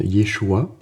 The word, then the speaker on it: Yeshua: le monde le connaît il se dit en hébreu moderne Yeshua qui vient de la racine Yosa bon alors vous m'excuserez